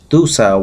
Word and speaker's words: Dussah: to a son who was named as Dussah, D-U-S-S-A-H. You can pronounce it Dussah.